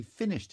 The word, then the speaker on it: finished: So now accent shifts to he finished his thesis. And again, finished is a two-syllable word. Stress is on the first syllable.